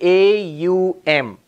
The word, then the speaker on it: Om: four aspects of ohm it literally says four letters of ohm what are they in English we say au m and then silence after that in sanskrit the club actually AUM is the closest we can get in Sanskrit Oh